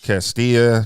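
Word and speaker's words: Castalia: Nash count Line Road castia is that how you pronounce it Casia castillia oh it's Spanish it's Spanish Castilla North Carolina 27816 and it's going to be from 900 a.m.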